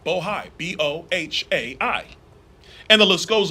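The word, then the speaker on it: Bohai: rstp to Bravo Rosemont Seneca Thornton Rosemont Seneca boja I want to make sure I pronounce it right bohi b-o-h-a-i and the list goes on and on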